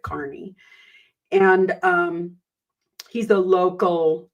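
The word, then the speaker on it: Kearney: his name is Aiden Carney spelled Kierney pronounces it Carney and um he's a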